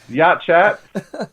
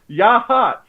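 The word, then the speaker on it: Yachats: This is in the town of Yachat, or Yahat. Pronounced Yahat.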